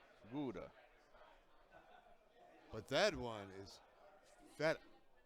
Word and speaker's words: feta: but that one is Feta. What does feta rhyme with? Better.